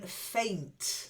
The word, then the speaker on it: faint: heart that's it then faint not like fine it's an a sound faint try it babe